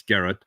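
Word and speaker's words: Gearóid: over on X Gad it looks like it's spelled gearoid but apparently it's Garrett um and uh yeah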